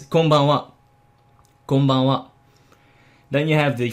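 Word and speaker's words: こんばんは: Don't try to pronounce the N sound too sharply. It's also not very practical. You can probably feel it if you were to say konbanwa. It doesn't sound very Japanese now, would it?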